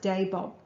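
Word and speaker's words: Dabob: torpedo trials i believe the area was called dabod bay from pronounced day bob but i'm not sure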